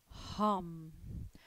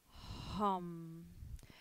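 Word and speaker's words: हं: and it is pronounced hum hum so very very coming out from the throat space very much you can almost feel the vibration when you say hum kind of circulating itself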